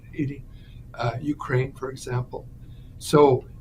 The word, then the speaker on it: Haiti: Venezuela Cuba or wherever ha haia or you know Haiti sorry mispronounce it Haiti uh Ukraine for example